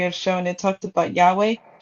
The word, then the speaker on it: Yahweh: So I know in the other passage that you have shown it talked about Yahweh.